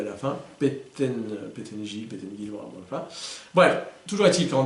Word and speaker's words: Pettengill: évidemment, P-E-2-T-E-N-G-I-L, L, 2 L à la fin, Pettengill, voilà.